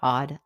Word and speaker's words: Awed: Hi, I want to welcome you to the Odd Life Podcast. That's spelled AWED, which stands for Awake, Well, and Empowered.